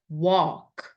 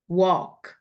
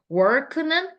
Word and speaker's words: walk: 생각보다 걷다라는 이 walk 발음을 좀 다르게 하시는 분들이 되게 많아요. 그래서 work는 일하다잖아요. work. walk. walk. take a walk. 입 안을 좀 크게 만든다고 생각하면서 발음을 해보세요. walk. take a walk. walk. work 아닙니다. 입이 이렇게 몸려지지 않고 크게 벌어져요. walk.